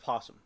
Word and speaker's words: opossum: The proper name for the scaly-tailed creature with a pointed head that may be barreling its teeth is opossum, but it's pronounced possum.